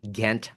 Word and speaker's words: Ghent: its missing panel and did I even pronounce it right? Gent alterpiece. No, you have it correct.